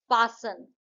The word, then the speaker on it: fasten: फासन, इसमें T silent है.